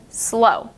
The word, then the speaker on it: slow: say slow you say slow you don't pronounce the W at the end it's silent next up is the